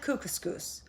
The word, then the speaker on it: Kookooskoos: Anyway, welcome to Camp Kookooskoos. It rhymes with moose, and that's another good thing about it.